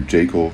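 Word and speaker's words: Jekyll: also mary shelley's frankenstein predates dracula and dr jacol and mr hyde i'm getting the pronunciation for jakel from the brow beating that harlan ellison gives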